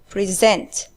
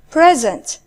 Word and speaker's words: present: And notice here, the stress is on the second syllable, present. Whereas the next one is present. When it's a noun or adjective, the stress is on the first syllable.